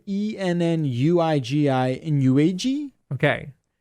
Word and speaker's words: Ennuigi: It's spelled ENNUIGI in UAG? Okay. Not right. You're but... like, no, it's Bob. So are you familiar with Ennui? Ennui, yeah. Yeah. Ennuigi. Ennuigi is how it's pronounced.